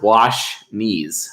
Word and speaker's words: Washnees: Washnees. And like he literally said it's pronounced wash knees.